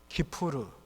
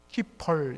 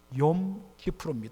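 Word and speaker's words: Kippur: 권사님이 히브리어로 뭐라 그랬죠요 키푸르 이걸 이제 미국 사람들이 영어식으로 발음하니요 키퍼 이렇게 발음하는데 원래는요 키푸르 용이란 것은 데이 나를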